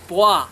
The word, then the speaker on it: bois: fruit we've got yes you'd say boi it's a pronunciation that's correct it's french meaning to drink and of course that's